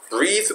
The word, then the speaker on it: breath: 명사로 쓸 때는 breath. 따라해보세요. breath. breath. breath. breath. 아래 동사로 쓸 때는 breathe. breathe. breathe.